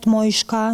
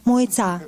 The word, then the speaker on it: Mojca: So my name is Mojca. Not Mojška, no, Mojca, yes.